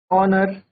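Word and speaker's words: honour: यह स्टार्ट तो हमारे एच से हो रहे हैं। बट यह साउंड किसका देंगे? साउंड वोवेल का आता है। जैसे ऑनेस्टी, आर। ठीक है? ये हमारा क्या है? इसमें आप एक तरीके से देखें तो एच जो है हमारा एच साइलेंट है।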